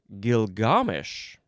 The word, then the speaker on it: Gilgamesh: Next we have gilgamesh. Gilgamesh. Capital g i l g a m h. You can also pronounce it Gilgamish.